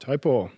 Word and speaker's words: Taupō: Taupō. Do you know how I remember how to say it correctly? Toe and a paw.